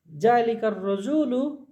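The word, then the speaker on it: ذلك الرجل: জালিকার রজুলু শারিফুন, তাহলে জালিকার রজুলু, ওই লোকটি। র এমন একটা হরফ যার আগে আল থাকলে লামে উচ্চারণ হবে না, এর উপর তাসদিদ হবে। তাহলে জালিকার রজুলু, ওই লোকটি, শারিফুন মানে হলো ভদ্র।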